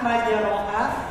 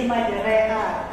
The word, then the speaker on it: majreha: Jadi bacanya yang harusnya majroha jadi majreha.